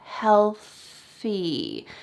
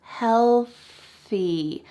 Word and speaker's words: healthy: So in this clip, he said healthy, healthy, but really it should be healthy. So can you practice that word with me? Make sure that there's an L, healthy. And maybe it's a little bit helpful because your tongue is already out of your mouth for the L sound. Healthy. Make sure there's a stream of air.